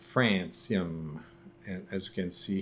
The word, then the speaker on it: Francium: So it's Francium, and as you can see here, Francium. That's how it's pronounced. Don't, because I've been on some websites and they say Francium.